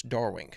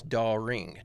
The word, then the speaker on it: Dawring: Big fan, Carlos Darwing." I think I'm pronouncing that last name wrong. I think it's Dawring, D-A-W-R-I-N-G.